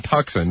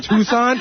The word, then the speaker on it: Tucson: I remember one time you pronounced Tucson Tuxen. Listen. Everyone makes a mistake. Everyone makes a mistake. That's true. I don't think you studied Arizona though. Yeah. You don't know Tucson?